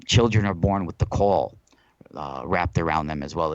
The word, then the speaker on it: caul: are born with the caul wrapped around them as well it's it's spelled CA UL like that like the call it's like a sack